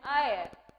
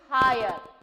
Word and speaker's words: heir: The next word is he is an heir to the throne. Higher. So no, we are not saying higher. It is not higher. Higher. We are producing the sound of pronunciation from E.